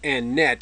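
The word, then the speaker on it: Anet: This is the entrance to Annette now, and that is pronounced Annette, even though there's a final T. This is one of those exceptions to the usual French rule.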